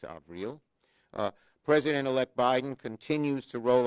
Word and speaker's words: Avril: In addition to Tony Blinken and Avril Haines, she corrected my pronunciation, it's Avril, President-elect Biden continues to roll out an impressive slate of nominees to his cabinet and other key administrative positions.